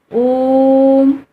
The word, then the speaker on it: ओम: जैसे ओम, ओम शब्द से आप सब परिचित हैं। ओम, इस तरह से इसका उच्चारण होता है।